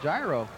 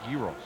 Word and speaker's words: gyros: That's looks like a gyro. Yeah, except it's pronounced gyros.